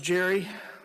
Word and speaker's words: Gerry: I know him very well because that's not even how you pronounce his name. It's a hard G. It's pronounced. Elbridge Gerry?